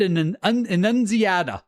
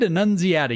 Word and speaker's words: Annunziata: Ed Annunziata, I think is how you say it. Ed Annunziata.